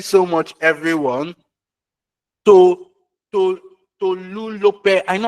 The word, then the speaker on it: Tolulope: To to Tolulope. I know how to pronounce your name.